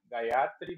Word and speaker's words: Gayatri: É porque em sânscrito não existe sílaba átona. Todas as sílabas são tônicas. Então não tem oxítona, paroxítona. Então, a gente, Gayatri, no Brasil, a gente sempre tende a colocar tudo como proparoxítona, né? Ou oxítona, que é a tônica, é sempre a última sílaba.